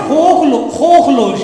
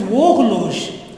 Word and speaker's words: horloge: It is not horloge, it is horloge. H is silent, H mute.